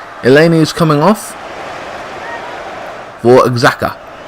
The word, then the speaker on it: Xhaka: Eleni is coming off for Xhaka. It's funny I can pronounce that name. Silent X.